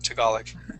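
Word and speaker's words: Tagalog: called talug tal yeah that's how we would pronounce that toolic okay uh very good nice job uh let's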